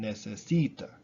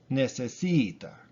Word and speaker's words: necesita: Even if there's a whole ton of syllables in the word, like 4 syllables, like in necesita, necesita. It's the C, necesita. That's the accented vowel, the accented syllable.